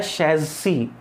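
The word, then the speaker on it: chassis: चेसिस number नहीं होता, होता है शैसी, शैसी, और प्लूरल होता है शैसिस, शैसी, शैसिस नंबर।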